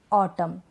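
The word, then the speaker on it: autumn: तो ये जो स्पेलिंग्स है ना, यहाँ पर एन से पहले लास्ट में, स्पेलिंग के लास्ट में क्या है, एन से पहले एम है, इसलिए हम एन को प्रोनाउंस नहीं कर रहे हैं।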